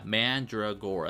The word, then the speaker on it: Mandragora: Yeah, Mandragora, that's how it's pronounced.